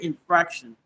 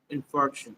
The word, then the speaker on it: infarction: I thought this I thought it was pulmonary infraction. Pulmonary and Infarction. Oh, it is. Is that how you pronounce it though? Um, one second. Pulmonary infuction. Okay, it is right. I I thought it was infraction. pulmonary infuction.